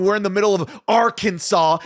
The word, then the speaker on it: Arkansas: in the middle of Arkansas it's pronounced Aransas by the way Aransas is how it should be pronounced and they just chant